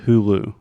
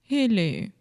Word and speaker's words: Hulu: in Portuguese Hulu Okay in English we say Hulu Hulu hu Hulu Hulu okay try to repeat with me who who so exactly like who did this yeah who